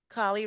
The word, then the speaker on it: Kali: Yeah, well, thank you, Kelly, for coming along with that journey with me. Kali rhymes with Bali, similar to cauliflower.